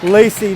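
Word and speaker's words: Laci: Lacey Nelson trying to beat Emma Lacey. Decidedly different spellings, pretty similar pronunciation. Lacey Nelson is L-A-C-I, Emma Lacey is L-A-C-Z.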